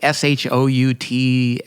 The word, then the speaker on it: Schuchts: his name is Bob Schuchts. And if I try to spell it, it's like Shouts or Z, but it's called Be Healed.